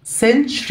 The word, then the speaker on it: century: هنا التي واليو هتدينا ساوند شه كده century لكن صوت حرف الشين century.